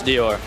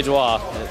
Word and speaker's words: Dior: i nailed it and i now know how to pronounce dior i used to say duo it was bad everybody was so kind